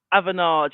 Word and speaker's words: Avanade: Currently at how do you pronounce it? Is it Avanade or Avanade? Avanade.